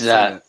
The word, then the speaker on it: Khamzat: Can you pronounce his first name? It's Khamzat Khamzat.